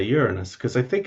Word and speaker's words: Uranus: being rude to someone the only really feasible way of saying it that isn't rude is uranus which i've never heard anyone say so i don't know